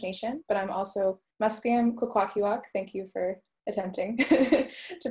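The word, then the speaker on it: Kwakwaka'wakw: And I'm from the Squamish Nation, but I'm also Musqueam Kukwakiwak. Thank you for attempting to pronounce that. Kukwakiwak.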